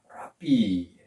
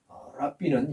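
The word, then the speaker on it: רבי: 어 랍비라 그럽니다 랍비 근데 우리는 랍비 랍비 하지만은 사실 여기 표시가 있으면 약간 히 발음이납니다 랍비 랍비 하는데 여튼 라비입니다 제자들이 그 예수님을 가르쳐서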